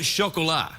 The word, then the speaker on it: Chocolat: Anything except the Rum Diaries and chocolat. Oh, how do you pronounce that? What? How do you say that word? Chocolat. It's a French word for chocolate.